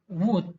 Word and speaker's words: would: Sini bacanya would ya, L-nya tidak kita perdengarkan ya.